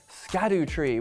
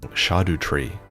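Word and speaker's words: Erdtree: DLC most of us have been calling it scad tree which makes sense because that's how it's bloody spelled but according to fromsoft expert vti VI it should be pronounced shadu tree so now you know and you know what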